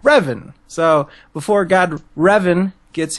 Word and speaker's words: Revan: I was pronouncing it Revan, but it's actually same here. Revan.